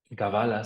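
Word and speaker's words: קבלה: de codificar la realidad la palabra cábala deriva principalmente del hebreo gavala se pronunciaría de manera correcta y significa recibir no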